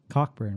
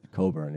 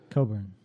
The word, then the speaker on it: Cockburn: thing came from oh it's Cockburn right Coburn yeah Coburn many people pronounce a Cockburn which is yeah Alexander